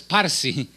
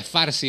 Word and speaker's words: farsi: programa en el idioma que se llama farsi pero se pronuncia a veces parsi es de los persas pero se pronuncia farsi hoy en día este